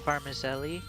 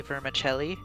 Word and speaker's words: vermicelli: like cake all right and then there's also varmizely which is actually vermicelli right yes we just pronounced things wrong which is like uh some